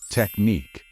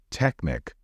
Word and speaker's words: technique: usual way in English the stress should be on the second syllable and the correct way to say it is technique don't say Technic or Technic you technique